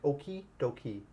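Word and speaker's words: okey-dokey: okay okay doy yep just make sure that it's like oy doy oy do key yep just like a key that you open your door like oky do key okayy doy okay yep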